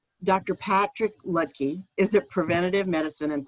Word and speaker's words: Luedtke: pandemics and possibility dr is uh i'm sorry i'm using the ohio pronunciation of your name dr patrick lutkey is a preventative medicine